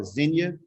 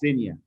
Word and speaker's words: Zinnia: I say like it was an S because my sister's name is spelled Zinnia, so people call her Zinia, but it's really pronounced Zinia.